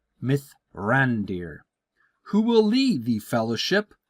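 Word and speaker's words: Mithrandir: known by the elves as Myer and I'll spell that out m i t h r a n d i r myth rander who will lead the fellowship out of Rivendell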